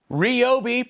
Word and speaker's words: Ryobi: yourself we'll put a link in the description ryobi pronounced that way because i said so held an